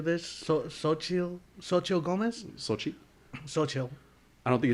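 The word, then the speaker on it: Xochitl: it off there okay it's sochi that certain things aren't pronounced so sochi gomez has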